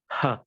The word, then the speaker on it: ھ: It is just close to the letter H in English, but it's not exactly the same because the Arabic ha, the soft ha that we are pointing right here, is a deep sound and a long sound.